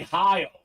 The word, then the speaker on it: Heil: So we got Jerry Hale up top. Or actually, that's Jerry Heil. Jerry Heil. That's how it's pronounced.